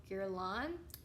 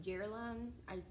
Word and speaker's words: Guerlain: they're big, makeup lovers like me, or skincare lovers, but there's a brand called Guerlain, and they're very, very bougie, and they have the Meteorites Primer Perfecting Pearls.